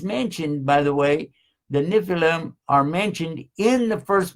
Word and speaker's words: Nephilim: It's spelled Nephilium. I would guess that it's Nephilim.